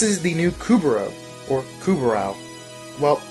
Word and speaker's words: Kubrow: the new kubera or kubrow well pronunciation will vary from person to person but jeff has said it as kubra overall people are coming